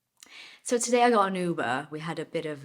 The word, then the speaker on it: Uber: And this is how we pronounce Uber, by the way. If you're Brazilian and you're saying Uber, nah, Uber.